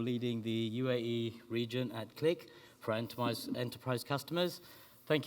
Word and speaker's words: Qlik: queue lick or click it's pronounced click but we'll accept click or cue lick but this might be